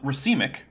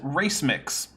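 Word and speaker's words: racemic: merury is but I recently heard him mispronounced rimic which is when you have uh a mixture of things like amino acids that have relatively even amounts of uh left and right-handed amino acids as race mix what yeah yeah race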